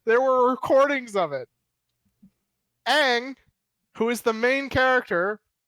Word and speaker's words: Aang: live on air there were recordings of it aang who is the main character is pronounced ong in the movie okay general